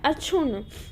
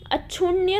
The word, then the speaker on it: अक्षुण्ण: वैसे उसी प्रकार है अक्षुण्ण, अक्षुण्य ना होके अक्षुण्ण होता है, ठीक है, अक्षुण्ण।